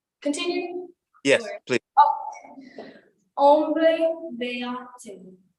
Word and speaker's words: beate: Beate. Yes, that's it. And the stress is on the ah sound.